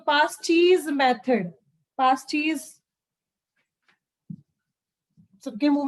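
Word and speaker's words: Paasche: उसके बाद आता है पास्टीज, सॉरी स्पेलिंग हो गया, सो it's name is very easy one, पास्टीज, ठीक है। मुझे पास कर दो चीज, पास्टीज, ठीक है।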